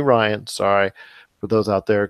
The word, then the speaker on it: Rian: think Rian Johnson and I know I have been saying rien in the past weeks because his hits you know let her see his name is spelled RI and thought it was R and it's actually Ryan sorry for those out